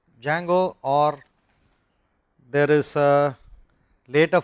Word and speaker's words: Django: say most buzz are Django spelt with a d Django or there is a